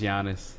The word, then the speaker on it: Giannis: Giannis is putting up. Giannis is going to be Giannis. We figured it out game Giannis. one. What? You keep saying Giannis. Gian- Yeah. Giannis. It's Giannis.